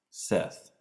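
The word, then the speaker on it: Szeth: about this you're like his name is pronounced Seth and it's like so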